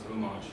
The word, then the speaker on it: homage: A homage, if you're going to pronounce it, it's a French word, and if you're going to pronounce it properly, it's homage.